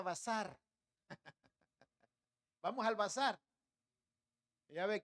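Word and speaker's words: בשר: carne carne carne carne carne en hebreo carne quiere decir verá y se pronuncia bazar vamos al Bazar Ya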